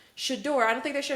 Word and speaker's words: Shedeur: Shedeur, I don't think they should have taken it out on Shout him.